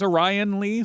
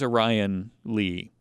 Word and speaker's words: Orion Lee: if it's because i i think it's orion lee some people are orion when you spell it like that but i'm pretty sure he was a ryan lee um and he was